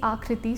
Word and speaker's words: Aakriti: Sir, phonetically if we see Akriti, so double A is gives the same sound.